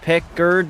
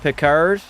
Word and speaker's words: Pickard: Blood, it's pronounced Pickard, not Picard.